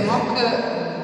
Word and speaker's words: MOC: queste MOC Tra l'altro Mok è particolarmente divertente perché Mok la pronuncia Mok vuol dire falso finto una cosa sbagliata in inglese e quindi conference quindi